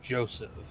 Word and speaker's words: Joseph: H splashy I believe the correct pronunciation is Joseph you're uh you need to pronounce the J that's was like that